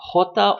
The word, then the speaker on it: jota: This letter, jota, is always pronounced like that. Jaime, justo. It doesn't matter what letter comes after it. It's always that sound. Now, when I pronounce the jota, or the he for